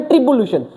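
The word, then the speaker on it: tribulation: इसकी प्रोनाउंसिएशन है ट्रिबुलेशन।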